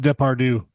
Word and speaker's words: Depardieu: pronounced Depardieu.